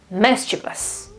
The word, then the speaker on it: mischievous: This part here is not views, vus, whatever, it's this. So V, schwa, S, mischievous, mischievous.